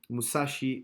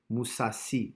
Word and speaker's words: Mousasi: nice guy friendly guy musashi moose ass Mousasi ain't Japanese yes you're right I mispronounce his name my apologies Mousasi I believe this is the pronunciation how did you score can be vs.